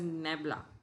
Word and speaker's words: nabla: as a vector differential operator the notation is pronounced as nabla and a br a Niebla or you can